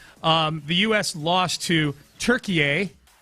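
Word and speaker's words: Türkiye: Um, the US lost to Turkey. That's that is how they pronounce it these days. That's how it was being pronounced on the broadcast last night. Turkey.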